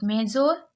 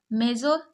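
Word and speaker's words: major: मेजोर बताइए क्या पढ़ेंगे आप मेजोर गलत है इसको मेजर पढ़ते हैं अब मेजर क्यों पढ़ रहे हैं क्योंकि लास्ट वाले ओ आर को आर पढ़ते हैं तो यह क्या हो गया मैं ज र मेजर अब यह पता कैसे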